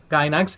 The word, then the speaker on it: Gainax: Specifically Princess Maker 2, which was created in 1993 by, I believe, was it how do you pronounce the company's name? Gainax? Gainax.